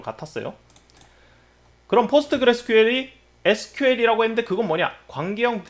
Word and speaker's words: PostgreSQL: 포스트그레스QL, 코끼리가 한 마리 나왔죠. 일단 이 괴상한 기술 이름을 어떻게 읽느냐, 포스트그레스 SQL이라고 하지 않고 포스트그레스QL이라고 읽습니다. 짧게는 PSQL, 가장 많이 쓰이는 짧은 단어로는 그냥 포스트그레스라고 씁니다.